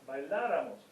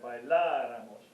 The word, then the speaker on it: bailáramos: To form, bailaras, bailara, bailáramos. Accent on the A there, bailáramos.